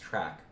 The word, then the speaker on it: TRK: a lot more track this is trk It's pronounced track there are a lot